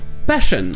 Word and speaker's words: passion: Mais si avant ce SI vous avez une consonne, comme on l'a vu tout à l'heure avec shore, ça se prononcera ch, comme par exemple dans une dimension, dimension, ou encore la passion, passion.